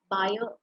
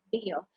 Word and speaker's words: Bayer: Rakesh Agarwal had commenced discussions with buyer or bear, whichever way you would like to pronounce it. You've got two different pronunciations there. There could be many more.